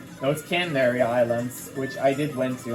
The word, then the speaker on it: Canary Islands: Oh no, it's Canary Islands, which I did went to on vacation, of course, multiple times.